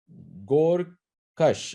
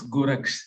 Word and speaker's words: Goraksh: Gorkash, am I pronouncing that name correctly? It's Goraksh, sir.